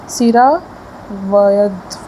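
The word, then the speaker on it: सिरावेध: वो हमारा आ जाएगा सिरा वध व्यध वृद्ध ओके प्रोनाउंसिएशन थोड़ा गलत है। सिरावध बोलेंगे जो भी प्रोनाउंसिएशन है वो हमारा किस में होगा?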